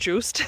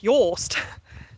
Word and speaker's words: Joost: And that means that if you're German, your name isn't pronounced Joost. It's pronounced like Jorst.